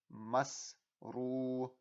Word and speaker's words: masrura: Because it's at the end of the verse, I would use that alif and I would stretch out that ra. So the correct way to say it would be masrura.